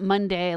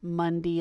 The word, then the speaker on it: Mundi: or however it's pronounced it's not Monday like Monday Tuesday Wednesday it's a Monday like mu nd I was Latin I guess I could